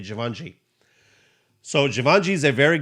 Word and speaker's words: Givenchy: I got this one because first, it's a very plain, nice looking jacket, and it's Givenchy. I think that's how you say it, Givenchy.